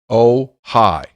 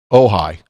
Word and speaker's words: Ohio: There are parts of southern West Virginia that I recall growing up hearing about oh-hi. No O on the end, just oh-hi.